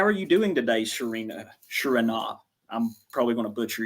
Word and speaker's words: Surena: And my pronunciation is Surena. Surena.